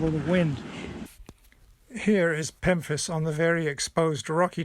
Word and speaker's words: pemphis: water's edge this is pemphis rhymes with Memphis but starts with a p and I want to